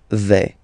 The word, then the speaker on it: vais: First person here, je vais. Remember, final S not pronounced.